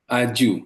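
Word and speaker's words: Ajou: Okay, so he's working now in Tashkent at Ajo University. Is it Ajo or AGOU? Aju, yes. Aju, okay, Aju University.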